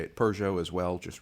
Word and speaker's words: Peugeot: Lovely shot of the Peugeot going slowly. As I said in whichever video I mentioned the Peugeot on last, I'll say it Peugeot as well, just right now for anybody who's